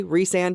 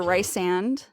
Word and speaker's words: Rhysand: I hate the way Rhysand is pronounced. That's fair. A lot of people think it's rice or rice-and.